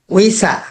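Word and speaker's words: 의사: উইজা না, এটা হবে কি, আবার উচ্চারণটা বলেন তো। উইজা, যদি উইজা বলেন তাহলে এটা হয়ে যাবে চেয়ার, উইজা না, উইসা। উইসা, উইসা, উইসা। হ্যাঁ, সা হবে লাস্টে সা।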